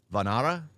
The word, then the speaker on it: Vanara: Vanara? Official teaser. What is it? Vanar? The A is silent at the end?